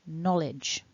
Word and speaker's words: knowledge: you can see here we've got two syllables the dot in the middle divides the two syllables and the blue mark